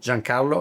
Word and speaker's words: Giancarlo: Did I say it right? Carlo. Jean Carlo. Italiano. Jean Carlo.